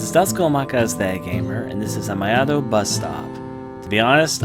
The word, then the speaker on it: Amayado: Apparently it's pronounced like Amayado Bus Stop.